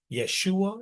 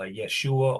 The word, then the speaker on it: Yeshua: 1550 okay and um the I um actually had the the Y sound so if you really wanted to say his name you would go with uh Yeshua or yua and you definitely would not say Jesus because again Jesus is